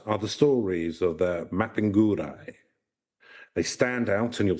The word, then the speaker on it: Mapinguari: Mapinguari is how it's pronounced.